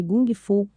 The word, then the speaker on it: kung fu: que James a via kung fu ao invés de gung fu que era o modo que mais parecia com a pronúncia em cantonês James Lee falou que